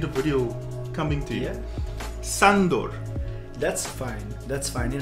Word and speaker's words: Sandor: video coming to you Sandor that's fine that's fine it hang are you actually yeah how did the actual pronunciation of the unit it's like Shandor but I'm okay with